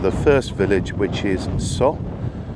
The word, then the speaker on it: Soo: It's about 5 kilometres along the LZ410 to get to the first village, which is So. It's spelt Su, but it's pronounced So.